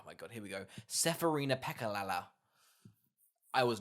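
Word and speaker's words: Serafina Pekkala: can go oh my god here we go seferina pekka lala i was not writing that you nailed the pronunciation thanks i'm pretty chuffed with that i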